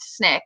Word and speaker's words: SNCC: the consequences and the reproduction yes SNCC is pronounced snick by everyone who was involved in snicks oh